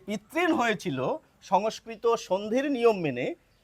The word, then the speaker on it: পিতৄণ: আমি এখন আধুনিক বাঙালি যেভাবে উচ্চারণ করেন পিতৃণ এভাবে উচ্চারণ করব।